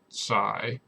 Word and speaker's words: psi: uh two and then this is a greek letter psi i'm sorry c is how it's pronounced typically um and then in